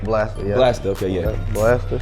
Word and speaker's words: Bla$ta: Is Blaster right? Am I saying it right? Blaster, yeah.